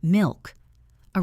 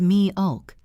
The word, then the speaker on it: milk: Think of the word milk. A robotic pronunciation is milk-a. A native pronunciation is mi-ulk. The L is heavy and dark.